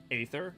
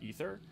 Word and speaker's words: Aether: me I say um Aether instead of ether because they spell it with an A and like the original like Aether was like the AE thing so like Aether or ether both are fine both are used in common English both are used in